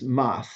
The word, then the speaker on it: MAS: The easiest way to say it is MAS, one syllable.